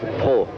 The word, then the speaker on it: Prost: When I was young, it was Pro. Yeah. And then when I started to go motor racing, it was Prost, because I think it was easier for them to pronounce that.